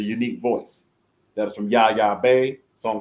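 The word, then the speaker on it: Yaya Bey: The song you heard before that is from Yaya Bay. A song called Raisins. That's from Yaya. And that's from her own YouTube channel. Yaya Bay. Bay is spelled B-E-Y. Yaya Bay. That's B-E-Y.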